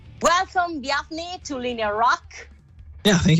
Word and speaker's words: Bjarni: rock yeah thank you is that the correct pronunciation of your name via biafny yeah sure it's close enough it's kind of throws people who don't speak iceland icelandic very much off so i'm pretty much happy with anything okay but you know